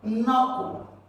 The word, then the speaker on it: knuckle: option b you have knuckle right for this kn what have at the beginning just have an sound here so not going to rec